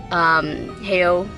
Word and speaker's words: Hayao: And we are at AFI FEST, and we just watched Hayao Miyazaki's The Wind Rises. Is that how I pronounce his name? Yeah, I say Hayao.